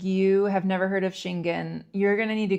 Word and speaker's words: Schengen: The EU and Shingen are very strict.